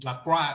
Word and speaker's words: Lacroix: He was the coach of Darren Lacroix, or Lacroix as I like to say, because it's a French name, but he says his name wrong.